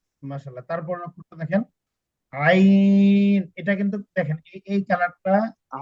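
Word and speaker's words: عين: এটা হচ্ছে গইন এটাতে নুক্তা নাই এটা হচ্ছে আইন এটা হচ্ছে আইন আইন আইন না দেখেন আমার উচ্চারণটা শুনেন তারপরে ইনশাল্লাহ আমার সাথে মসক করেন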